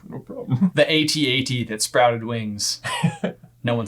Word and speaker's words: AT-AT: Now you got comments being like, it's an at Ben. I'm sticking with AT-AT. I think the AT-AT. When people say at, I'm like, no, please say it as AT-AT.